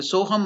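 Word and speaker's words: soham: so the soam Mantra how to pronounce this soam s o h h a m the soam Mantra is s o h a m soam so now so is elongated that is two Matra two unit of time it is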